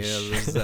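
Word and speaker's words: Țepeș: No, because he was supposed to be Vlad Tepes. Vladimir Tepesh. That's how they say it. Like it's a fucking H.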